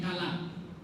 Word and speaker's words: Kilab: Kalab atau Kilab ya. Bacanya Kilab, ada bacanya Kalab.